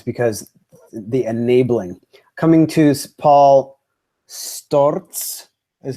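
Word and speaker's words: Paul Sztorc: Coming to Paul Storz is how you say it.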